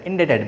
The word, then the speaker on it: indebted: So, here B is silent, indebted, B is silent.